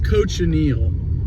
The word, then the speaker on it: cochineal: might have been saying coachin I think it's coach anal I I looked up the how to say it and that's what it said the world's biggest prickly